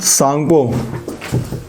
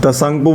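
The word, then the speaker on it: Tsangpo: ठीक है, हाँ ये वाला मैप देखो, यहाँ पे इसका नाम है सांगपो। ठीक है, तसंगपो बोलते हैं इसको, सांगपो बोलते हैं, लेकिन स्पेलिंग टी से स्टार्ट होती है।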